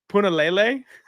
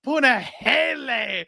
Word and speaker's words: Punahele: I always used to pronounce Puna's name Punahele, and he got so mad.